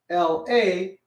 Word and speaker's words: la: go and step higher l a is spelled out and pronounced la everybody say la sounds like far right right it sort of rhymes with far it's f a for